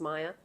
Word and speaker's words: Maja: My name is Maya, spelt with a J, pronounced with a Y, and I look forward to getting to know you guys.